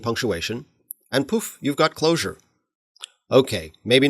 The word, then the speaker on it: Clojure: to anonymous functions as closures with an S but that's pronounced the same as closure with a J so to avoid confusion